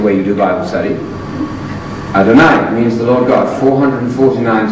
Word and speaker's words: Adonai: You all know about Adonai because it rhymes with El Shaddai.